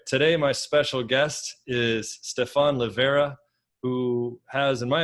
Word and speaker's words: Stephan: your name slightly incorrectly I say Stefan it's more Stefan but all right that's it that's fine I'm used to either either that's fine yeah I used the wrong syllable sir so so Stefan